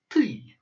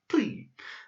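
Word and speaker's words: ты: So this is pronounced ty, ty. And ty means you if you're talking to somebody informally. So like the tu in French. So it's pronounced ty.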